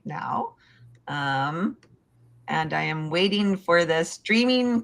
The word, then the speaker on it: Andie: Um you pronounce my name Andi like Gandhi but without the G.